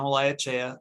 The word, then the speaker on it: Olaechea: trish and excellent job on the last name pronunciation i appreciate that uh so everyone uh my name is eliachea i am what's known as the compliance assistance